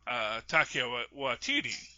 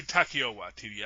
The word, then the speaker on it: Taika Waititi: brothers, Jon Favreau, and Taika Waititi. It might be Takeo Waititi. I'm not sure. It's not spelled with no, but as I've heard it recently, Takeo. So I think it's Taika. Taika Waititi.